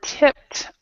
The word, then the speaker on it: tipped: So we're tipped off. Tipped in past. The police were tipped off. Mm-hmm. The pronunciation is fugitive or. Yeah, so the pronunciation for that is like TIPT.